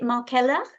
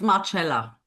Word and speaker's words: Marcella: Is it Markella? Sorry, you're on mute. It's Marcella. Marcella.